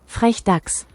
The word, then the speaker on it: Frechdachs: It is pronounced FrechDachs.